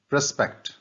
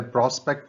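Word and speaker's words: prospect: आगे देखिए, स्पेक्ट, प्रस्पेक्ट, पहले प्रोस्पेक्ट था, नाउन था, ये प्रस्पेक्ट बोलेंगे, इसे प्रोनाउंसिएशन थोड़ा फर्क है, वर्ब है प्रस्पेक्ट।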